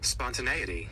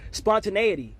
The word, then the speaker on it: spontaneity: Oftentimes when I don't know what a word is pronounced, I get to look at how it's pronounced and what it even means. Spontaneity. Spontaneity.